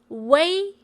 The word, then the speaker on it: ui: UI is pronounced as Wei. Wei. And you should know that UI is actually short for UEI, and that's why UI is not pronounced as we, but instead it's pronounced as U plus A, way, way, and it sounds just like the English word way.